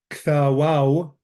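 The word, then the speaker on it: ܟܬܒܘܗܝ: Kthawau, this is how this is pronounced. All this is silence. The he and the yod are silent.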